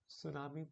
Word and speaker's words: tsunami: Tsunami is pronounced as this only with a T silent, if you can recall.